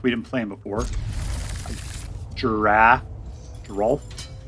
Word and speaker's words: Geralf: Geralf. I have to pronounce that L in there.